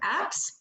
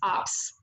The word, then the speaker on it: apps: The second word, apps, the vowel sound is not fully formed, so he pronounces this word as ops.